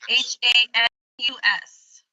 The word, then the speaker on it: Hanus: Spell it. H-A-N-U-S.